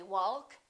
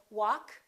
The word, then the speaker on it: walk: adjust adjective all right silent L we don't say walk and talk we say walk talk could would should